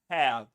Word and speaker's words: hair: and we say but in English there's no friction you need to open your mouth a bit more pretend like you're yawning like And when you're yawning, you say hair. The air needs to go out without that friction in the throat.